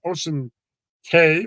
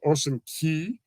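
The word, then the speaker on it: Ocean Cay: private island which is ocean K or Ocean Key however you want to pronounce it uh but this is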